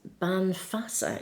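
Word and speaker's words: Bean Feasa: We have, no, I think this is Banfasa, it's pronounced actually, but women's wisdom.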